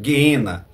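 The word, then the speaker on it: γέεννα: Ades o guena tá ou geena no grego se pronuncia geena então segundo a declaração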